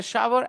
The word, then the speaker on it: shower: so I'll tell you w is not pronounced that's true W is